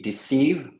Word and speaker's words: deceive: dessous donc là pareil premier e ça se prononce i tu le prononces i deceive et le deuxième c'est un il long deceive ok et tu l'écris